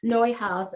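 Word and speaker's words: Neuhaus: i'm sorry for that neue house uh it's spelled uh not quite like it sounds but it's a belgian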